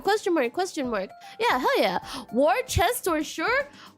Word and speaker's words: Worcestershire: Worcestershire? Wash your sisters.